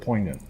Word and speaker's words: poignant: poignant point point with a stupid silent g in the word poignant what was your question